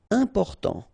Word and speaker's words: important: utile horrible ok remember we don't pronounce h here horrible immense final pronounce immense important not pronounced and then remember you got this m and after consonant so it is here nasal Important important indépendant final